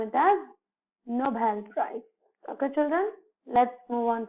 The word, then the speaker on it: Nobel Prize: So we generally in a flow recite as Nobel Prize. No, children, it is very wrong. So we should pronounce it as Nobel Prize. Nobel Prize. See here, the B is being stressed.